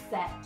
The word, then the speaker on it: said: If you were to read it phonetically, you would go said, said. Doesn't really sound like a word, does it? So you've got to remember that it is said.